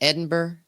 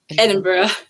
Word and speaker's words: Edinburgh: Wait, is that how you pronounce it? Edinburgh? Edinburgh, they say. Edinburgh.